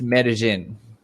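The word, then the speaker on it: Medellín: the city's name is medellin i will write it i will write it for you so it's pronounced medellin in spanish in spanish in spanish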